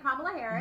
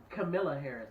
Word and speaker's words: Kamala Harris: Camilla Harris is what he calls her. He did. I was. I said it wrong. I think I said it wrong. No, he kept saying her name wrong.